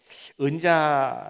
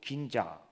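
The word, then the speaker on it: 銀座: 교회를 우리는 방문하게 됩니다 은자 라고 하는 말을 일본 발음으로 긴자 이렇게 하더라고 긴자 그래서 길을 못 긴자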